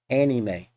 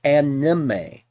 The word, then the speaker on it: anime: Anime. That number one, he can't even pronounce it right. It's anime. It's basically a shorthand for the word animation. It's anime, not anime.